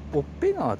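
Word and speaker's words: 越辺川: これはおっぺ川と呼びます。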